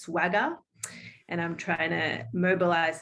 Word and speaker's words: SWGAH: The acronym for that is SWGAH, pronounced swagger.